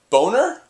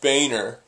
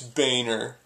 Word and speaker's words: Boehner: hand and says uh no it's pronounced Boer and the teacher's like really because it looks like boner and he says yeah well it's not it's Boehner then the same thing